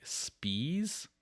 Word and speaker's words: Spies: Johan spies I think in German that comes just like Spees but you're right it's it's